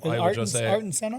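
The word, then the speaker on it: Ayrton Senna: Erin Sena always drove his What's the proper way of saying that James? Um Artton Senna.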